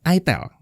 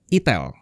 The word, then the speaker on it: itel: Ya, itel, bacanya itel, bukan itel ya, bukan.